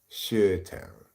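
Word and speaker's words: Chi-Town: of course the irony is it should be pronounced sh town so you know just goes to show you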